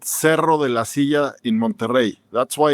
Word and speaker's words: La Silla: La Silla, like you just said the second time. It's La Silla. And it's named because it's in front of the big mountain called Cerro de la Silla in Monterrey.